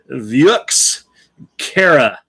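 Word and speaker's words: Vieux Carré: have expected it's like v-i-e-u-x c-a-r-r-e yeah so view viejux kara for review corey if you pronounce it properly these guys they get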